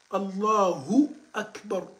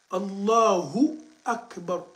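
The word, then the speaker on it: الله أكبر: Il faut répéter ça pour mieux prononcer. Allah Akbar. Allah Akbar. Allahu Akbar. Allahu Akbar.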